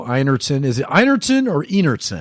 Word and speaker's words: Einertson: Is it Einertson or Einertson? It's pronounced Einertson. Einertson with a hearty.